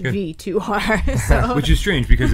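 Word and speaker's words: VIIR: I looked it up and they actually told you like, and this is how it's pronounced, Good. V2R.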